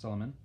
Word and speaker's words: Suleiman: But the reign of Sultan, which is like their king, Sultan is king, you should probably know that, Sultan, S-U-L-T-A-N, Sultan Suleiman, pronounced Suleiman, the first, also the Magnificent, because one title is not enough.